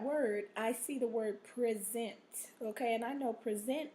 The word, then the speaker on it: present: also has different pronunciations if you say the word with an accent on the first syllable it is a it is pronounced differently and has a different meaning present this word present this word means either